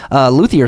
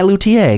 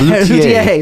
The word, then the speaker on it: luthier: You can tell the assholes, whoever says luthier. That's me. Right. I'm the one going, fuck you. You're saying it wrong. Learn French, you piece of shit.